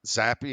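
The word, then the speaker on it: Zappe: Is it Zap or Zappy? I think so. I think it's Zappy.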